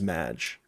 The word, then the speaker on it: Madge: forget now Loki Loki Loki called me Maggie because he couldn't say my name right my name is Madge oh I wondered if